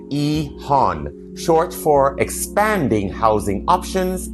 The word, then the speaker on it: EHON: Quick note when I say Ehan I'm pronouncing it Ehan short for expanding housing options in neighborhoods.